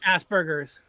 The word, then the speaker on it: Asperger's: Asperger's. Asperger's. Oh, you're talking about the Facebook guy, Zuckerberg. Well, yeah, Asperger's is another thing that they children will have if Down they syndrome? yeah, Zuckerberg has Asperger's.